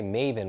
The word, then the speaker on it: Maven: sounds like right so if I say Maven what does it sound like a rhyme with most people say Raven right that black bird